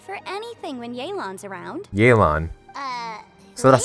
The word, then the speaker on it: Yelan: Yelan. So that's how you pronounce it.